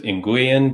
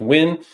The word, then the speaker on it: Nguyen: You might know it as Nguyen, but I think it's pronounced Win.